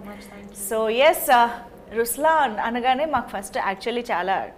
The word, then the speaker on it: Rushlaan: So even in Ruslan, when you say Ruslan also means the lion, it's the attitude of I am, but the right pronunciation is Rushlaan.